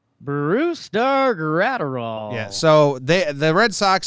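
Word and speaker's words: Brusdar Graterol: Brusdar Gratterall? Brusdar Gratterall.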